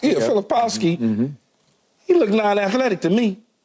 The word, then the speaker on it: Filipowski: what how do you say his name yeah filipowski he look non-athletic to me he looks non-athletic